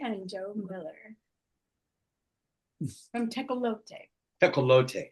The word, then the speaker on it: Tecolote: So you don't put Tecolote. accent on the E? Oh. There would be an accent on the E normally, right? Tecolote. Yeah, I suppose, but it's, it's a derivative of a Spanish word, right?